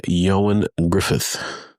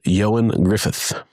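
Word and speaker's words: Ioan Gruffudd: Uh Reed Richards is played by Yoan Griffith. I had to look up how to say his name. uh Welsh man and Welsh language is interesting. So Yoan Yoan Griffith uh in this variation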